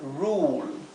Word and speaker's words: rule: Y tenemos un caso más especial, que es más excepcional, que se pronuncia como una U larga, como la palabra rule.